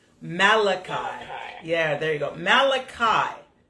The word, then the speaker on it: Malachi: the last book of the Old Testament is pronounced Malachi Malachi yeah there you go Malachi Malachi I have